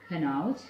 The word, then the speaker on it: Kanauj: And there are some well-known names like Kanauj in Uttar Pradesh. That's spelled in the map as Q-A-N-A-U-J, Kanauj.